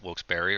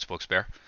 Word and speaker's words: Wilkes-Barre: those you don't know how to pronounce wilkes-barre its wilkes-barre not wilkes-barre or not wilkes-barre it spokes bear 1913 and 341 points